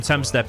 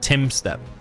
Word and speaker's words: Tumstep: Aunt Mafia says, I don't know if you knew, but the nickname Tumstep is taken from his name and pronounced Timstep. English you is like I.